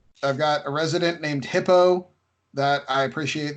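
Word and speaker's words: Hippeaux: got a resident named hippo that I appreciate they spell it H IP PE au X so it's like it's like a Cajun hippo yeah a friendship which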